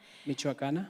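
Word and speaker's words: Michoacán: the universidad oh i just asked how to pronounce this again michoacan thank you in morelia mexico and it's no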